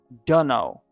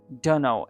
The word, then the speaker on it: dunno: Instead, they would say dunno, dunno. It sounds like duh, no, duh, no.